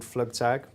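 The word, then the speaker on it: Flugtag: how am I probably pronouncing it wrong the fluk tag is that what it's called and that was for the Red Bull campaign yeah yeah so we got the event's called flug tag right and we created a series of of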